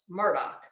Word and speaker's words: Murdaugh: from before the trial even started that it's pronounced Murdoch so that's what I'm gonna say Alex Murdock